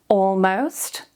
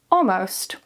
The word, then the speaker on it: almost: Almost. Almost.